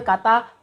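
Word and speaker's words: กา: Contohnya kita ambil kata kokai, ditambahkan dengan sara panjang atau a. Di sini kita akan bacanya dengan nada tetap sedang, yaitu ka.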